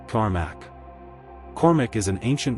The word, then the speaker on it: Cormac: Pronounced Cormac.